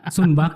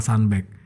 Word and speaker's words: Sunbag: juga akhirnya tercetuslah sunback jadi bacanya sunback Ya bukan sunback ya kadang masih ada yang Sumbang cuma kalau yang kadang tamu itu ya udah sanback atau ya kalau udah bule pasti bacanya standby tapi kan namanya sunhaji